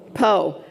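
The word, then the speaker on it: פה: And here we have a dot above, so what's this going to say? Po. And the hey is silent.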